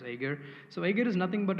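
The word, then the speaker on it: Jaeger: using agar so agar as you see like it's j-a-e-g-r and we spell it as Ager so Ager is nothing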